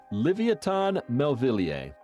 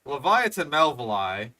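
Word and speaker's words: Livyatan melvillei: Livoton melier. It is related. O yesesh, that was a bad pronunciation. So, Leviathan Melvali, it it's kind of a butchering of the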